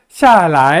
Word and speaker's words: 下来: 下来, 下来, 下来 하지 말고요, 下来 라고 라이를 경성어로 발음합니다. 북경이라든지 동북 쪽에 표준어를 정확하게 구사하는 쪽에서는 방향보호를 경성어로 확실하게 발음을 해줘요. 근데 중국의 남쪽이라든지 대만에 가보면은 샤라이 하고 라이를 길게 제2성으로 발음합니다.